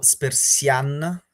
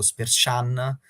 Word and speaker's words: Spertsyan: Diciamo che allora ho sentito ieri un'intervista, dovrebbe essere tipo Spersian, quindi Ok, con l'accento comunque sulla parte finale, un po' come tutti gli armeni. Avevo trovato anche qualcun altro che l'aveva chiamato Spersian, ok.